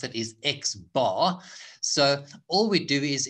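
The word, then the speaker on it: x̄: a hat on so then the way we pronounce it is x bar so all we do is in the numerator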